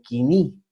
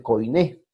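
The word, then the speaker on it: koiné: nosotros vamos a ver el griego quini o como se escribe él codine pero se debe leer quini ok el 330 al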